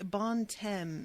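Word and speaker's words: Bon Temps: it um anya says actually bon tem is the right pronunciation in france you don't say the p in no they don't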